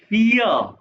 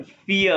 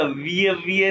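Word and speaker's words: vier: ई के पास ई पियर पियर अल्फाबेट्स नहीं याद किए नहीं देखे तो देखना एक दफा नहीं पांच दफा देखना और प्रोनाउंस भी साथ-साथ करना बहुत इंपॉर्टेंट है फिया विय नहीं कहना पिया आइंस सवाए दए पिया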